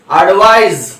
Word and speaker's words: advise: यहां पे इसकी स्पेलिंग ISE है और इसका साउंड यस की तरह होता है और इसका साउंड Z यानी जी की तरह साउंड होता है। एडवाइस, एडवाइज।